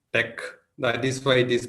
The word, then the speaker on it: TeX: so coming to the word Tech the where Tech comes from the Greek letters t from the Greek to E from Epsilon and X from Kai so it is pronounced Tech that is why it is pronounced as Tech